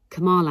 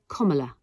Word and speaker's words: Kamala: deep he's not CA Harris it is not Kamala Harris it is kamla Harris it's bouet b u c k e